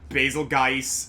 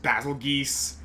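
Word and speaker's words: Bazelgeuse: can can agree on how to pronounce basil juice. Basil juice. Uh, I've heard basil juice, basilgeist, uh, basil geese. Um, I'm not a Monster Hunter player, but I like the sound of basil juice.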